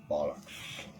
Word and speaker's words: bollocks: Never mind the bollocks.